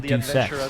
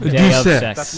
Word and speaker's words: Deus Ex: So I pronounce it Deus Ex, actually. I love I always pronounce it Deus Ex.